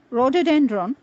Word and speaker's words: rhododendron: The silent H is to be found in words like rhyme, rhythm, rhetoric, rhododendron, rheumatism, rhinoceros, and rhodium.